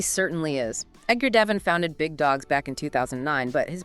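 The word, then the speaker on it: Big Dawgs: That's B I G D A WGS. But remember, we say it like Big Dogs.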